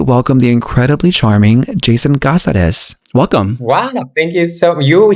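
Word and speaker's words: Cáceres: In Spanish, it's Caceres because it comes from a city in Spain named Caceres. But usually in English, I'm just like Caceres.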